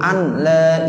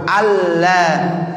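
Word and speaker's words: أَلَّا: Tuh batal gara-gara kita baca asyhadu an la ilaha illallah. Mestinya asyhadu alla, jangan an la. Ya, jadi nunnya nggak ada lagi. Ya, jadi nun mati ketemu lam berarti harus dibacanya alla, idgham bila ghunna.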